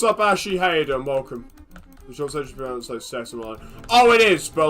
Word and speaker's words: CeX: how how how they actually called sex and not CEX. It like they like their whole like tagline for a bit was like, "Oh, CEX is pronounced sex."